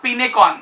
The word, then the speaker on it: Pinecone: सकते हो, which is Pinecon, exactly Pinecon, exactly. Hopefully it is pronounced like this, Pinecon or Pincon or something like that.